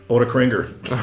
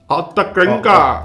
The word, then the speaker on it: Ottakringer: How do you say that in Austrian? Ottakringer. There you go. That's how you say it in Austrian. Ottakringer.